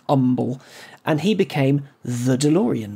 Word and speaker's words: Humble: called Umble in Texas spelled humble pronounced Umble and he became the